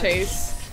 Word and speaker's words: Chase: Or Straw Hat Cheese with the win. I know his name is Chase. But because I mispronounce it as Cheese, it's all I'm gonna say now.